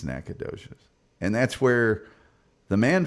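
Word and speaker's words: Nacogdoches: Hey, Funky Broncos says, "I'm from Nacadocious, Texas. It's pronounced nachodocious." I think it's Nacadocious.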